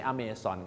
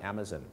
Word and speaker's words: Amazon: Amazon River The Amazon Amazon ไม่ ใช่ amon ครับ The Amazon แม่ น้้ำ นาย นาย